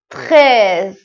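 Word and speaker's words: treize: کنید دوز عدد ۱۳ تخز ببینید طی اول کلمه مثل همون تخواب فقط یک آن تاچ میکنیم ت رو ت ت ت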